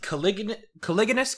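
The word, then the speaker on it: caliginous: Yeah, it's the Caligulous Quadrant. That's how it's pronounced.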